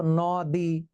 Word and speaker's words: নদী: হলো দন্ত ন, অতএব উচ্চারণ হওয়ার কথা ছিল নদী, কিন্তু নদী উচ্চারিত হয় না, উচ্চারিত হয় নদী।